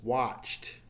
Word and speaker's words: watched: is a T sound so the past tense become separated separated since it's a T sound it adds an extra